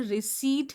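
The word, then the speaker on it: receipt: तो इसमें रिसीट है। पी एकदम साइलेंट है।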